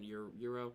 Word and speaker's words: Yuro: I don't think letting Yuri win Yuro. Yuro, yeah. I'll say his name right for this.